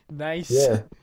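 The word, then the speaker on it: gneiss: yeah dude i did look nice so smart it's spelled g n e i s s nice that's when a rock is is layered as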